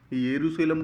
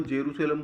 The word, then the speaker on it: यरूशलेम: यरूशलेम बोल दो, जेरूशलेम बोल दो, कुछ भी बोल दो, दोनों का प्रोनाउंसिएशन अलग अलग है ना, लेकिन जगह एक ही है।